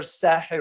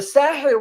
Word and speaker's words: Sahel: The Sahel region, or a Sahel in Arabic and Sahel in English, how we pronounce it, is a wide